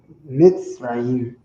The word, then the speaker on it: Mitzrayim: Mitzrayim. That's how they say it in the Bible.